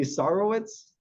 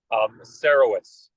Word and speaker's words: Sarowitz: My guess would be Sarowitz. Sarowitz.